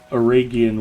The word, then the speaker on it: Eregion: So Aragian would be a hard G.